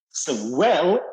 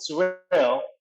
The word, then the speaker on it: Sorel: Sorel is happy, and I can pronounce it. So it is literally called Sorel.